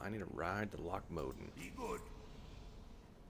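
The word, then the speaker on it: Loch Modan: I need a ride to Lochmoden. Be good. I really feel like that's the proper pronunciation. Lochmoden. It just sounds more Scottish than Lochmodan.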